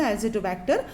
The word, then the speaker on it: Azotobacter: Azotobacter, the pronunciation of it is the azotobacter, and here rhizobium.